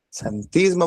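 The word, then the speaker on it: xantismo: de con X santionismo, es que se llama santismo. Bueno, que tiene muchas santinas en muchos pigmentos amarillos en el cuerpo. Es como el albinismo, pero con las santinas que se escribe con X.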